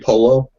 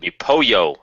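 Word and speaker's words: pollo: Is it going to be Polo? Marco Polo? Which is also chicken, which could also be Gus. Oh. It'd be Poyo. But it's spelled. No, it's not. P-O-L-O. L-L-O.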